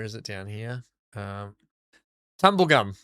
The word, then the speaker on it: Tumbulgum: Um, tumble gum, right? Tumble gum, which it's actually pronounced tumbulgum.